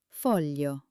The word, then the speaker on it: foglio: Foglio.